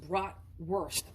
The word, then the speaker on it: bratwurst: I think it's really pronounced bratwurst. Like, you know, you're the worst person ever.